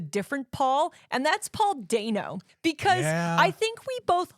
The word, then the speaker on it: Dano: And I'm just like, ooh, Paul Dano's in this? I love him. Yeah. And I'm on my eternal crusade that people know his name is pronounced Dano, Day, not Dano.